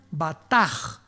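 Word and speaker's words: בטח: la palabra hebrea batak con b de burro y ch al final se pronuncia batas batas que significa descansar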